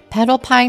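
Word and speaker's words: Petalpine: combination to work with petal pine is pronounced like the words petal and pine while yakura's name is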